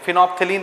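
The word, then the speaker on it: phenolphthalein: test किया जाता है जी स्पेलिंग देख लीजिए पी एच ई एन ओ एल पी एच टी एच ए एल ई आई एन फिनो फिलिन पढ़ते हैं बहुत सारी चीजें साइलेंट होती है बीच में दूसरा है मिथाइल ऑरेंज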